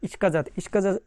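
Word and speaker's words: сказать: ইস্কাজাতের উচ্চারণ বিশ্লেষণটা কী হবে। প্রথম যে অক্ষর দেখা যাচ্ছে এটা তো আপনারা জানেনই, ইস, তারপরে কে, তারপরে আ, ইস্কা, ইস্কা। তারপরে দেখেন যেটা দেখতে পাচ্ছেন এটার উচ্চারণ ইংরেজিতে যে জে আছে সেই জে এর মতন, এবং বাংলাতে বর্গীয় জয়ের মতন, শুধু বর্গীয় জয়ের মতন। তাহলে জে এ মানে জে আ তে, তারপরে লাস্টের যে অক্ষরটা দেখতে পাচ্ছেন এটা কোনো উচ্চারণ হয় না।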